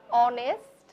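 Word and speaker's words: honest: উচ্চারিত হচ্ছে না অর্থাৎ এইচ একেবারেই উচ্চারিত হচ্ছে না বাদ যাচ্ছে পরবর্তী বর্ণ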